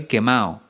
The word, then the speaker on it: quemado: expresión similares estoy quemado pero aquí solemos no solemos pronunciar la d sería estoy quema o es una expresión informal